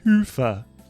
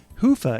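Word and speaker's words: Hyvä: Commerce is sponsored by hi or as the Europeans say Hua or the right way to say it Hua is rapidly becoming the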